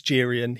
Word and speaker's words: Geryon: And Geryon, I think it's pronounced Geryon. I actually looked Yes, at this. Geryon.